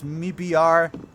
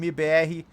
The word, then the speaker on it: MIBR: I know guys, you you pronounce mibr. All right, but I'm going to use the Portuguese pronunciation mbe today.